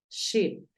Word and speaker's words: sheep: La SH es un poquito más suave, es como cuando le decimos a alguien que haga silencio. Entonces tú dices sheep. No es tanto como chip, no es esa tan fuerte como la que usamos en español.